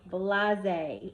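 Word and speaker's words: blasé: for the word of the week I chose blase say it with me blase it is spelled b la s e it's an adjective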